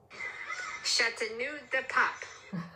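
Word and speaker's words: Châteauneuf-du-Pape: Chateau Neuf du Puppy. Okay. This is the correct pronunciation for what he just said. Sort of, because I do not have a good French accent. Chateau de Pop.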